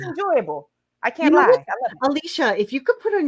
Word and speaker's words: Alysha: stick with us draw all my teachers called me ashley i'm like no it's alicia thank god for alicia